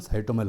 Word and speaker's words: साइटोमेल: कुछ नाम इसके साइटोमेल के नाम से भी जानते हैं, और कुछ लोग जो हम लेमन के लैंग्वेज में बोलते हैं तो साइटोल भी बोला जाता है, पर एक्चुअल इसका प्रोनाउंसिएशन साइटोमेल होता है।